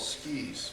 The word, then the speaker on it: tsuki: so the first five are what are called skis which is spelled TS U Ki I'm going to do